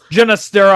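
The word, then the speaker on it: Ginastera: Jennistera, I think is how it's pronounced.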